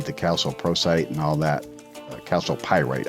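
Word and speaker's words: chalcopyrite: Calcopyrite. I always want to say prosite, but it's calcopyrite. I think that's how you say it.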